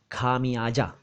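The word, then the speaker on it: ख़मियाज़ा: और जल्दी में बोले तो भी खमियाजा ना बोलकर खमयाजा बोलना चाहिए।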